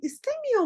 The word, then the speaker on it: istemiyor: ederken biraz zorlanıyorum Evet nasıl söyleyeceğiz çok şey istemiyor musun burada R sesimiz Sanki yokmuş gibi çok şey istemiyor musun